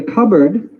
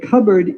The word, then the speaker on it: cupboard: a bird where the cereal is stored the cupboard see you P B o ay r d which looks like the word cup and the word of board put together but is pronounced Hubbard it cupboard is like a cabinet it's a place where